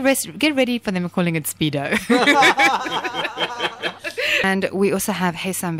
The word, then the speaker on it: Spiedo: It's Spiedo, not Speedo. Okay, so it's Spiedo. Spiedo.